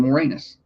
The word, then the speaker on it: Moranis: That's his name, Moranis.